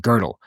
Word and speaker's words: Gödel: Actually, something you should notice is that I keep saying girdle. That's just my English pronunciation of his name.